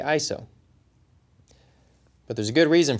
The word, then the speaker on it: ISO: organization for standardization and the correct way to say it is ISO I'm be